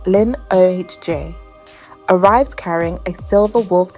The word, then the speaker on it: Linoge: A mysterious stranger named Andre Linoge, pronounced Lin-O-H-J, arrives carrying a silver wolf's head cane, marking the start of the island's descent into nightmare.